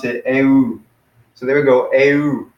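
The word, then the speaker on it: ευ: But they would actually pronounce it eu.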